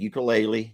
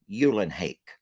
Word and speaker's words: Eulenhake: We've all said Teresa ukulele because it just looks like ukulele. And then she sent me an actual audio recording of her pronouncing her name. I played that for you all, and it was Teresa Eulenhake.